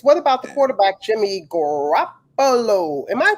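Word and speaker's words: Garoppolo: And speaking of politics, what about the quarterback, Jimmy Grappollo? Am I pronouncing his name?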